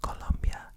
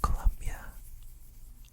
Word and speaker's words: Colombia: But basically it's an area in Colombia that is very focused on growing coffee beans.